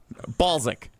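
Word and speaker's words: Balszak: How do you pronounce it? How do you say it? Balsic.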